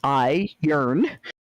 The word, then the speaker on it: iron: in your tars so iron the metal is pronounced i yearn from where i come from and heir the substance you breathe is pronounced ire where he came from and